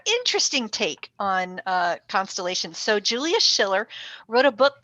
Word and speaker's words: Julius Schiller: So these are the representations of the constellations, especially the Zodiac constellations, created by Julius Schiller. Did I pronounce that right, Michelle?